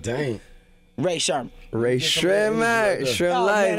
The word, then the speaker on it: Rae Sremmurd: Rae Sremmurd.